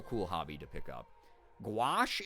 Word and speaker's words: gouache: hobby to pick up gouache is how you say it okay cool yeah no Haley